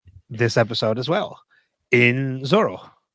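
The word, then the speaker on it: Zoreaux: a new player this episode as well in Zoro. We're going to call him Zoro. We're going to call him Zoro because that is what he eventually ends up calling himself. Zoho. It's Zoro.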